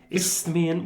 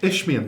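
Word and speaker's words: Isthmian: clinching the uh isian is it pronounced isian we will never isan ishan that's it all right okay the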